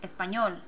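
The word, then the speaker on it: español: Espanol there's your consonant emphasis is on the last syllable espol espol so can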